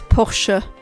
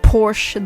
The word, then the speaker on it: Porsche: Uh, well, it's not really a big problem, but yeah, it's Porsche, not Porsche. The E at the end. It's a German brand, so that the E gets pronounced only streams versus being completely random topics.